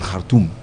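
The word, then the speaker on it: Khartoum: Before we used to blame it on Kartum as they pronounce it.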